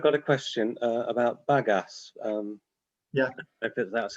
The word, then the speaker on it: bagasse: recycling but i've got a question uh about bagasse um yeah that's how you pronounce it but yeah yeah yeah if if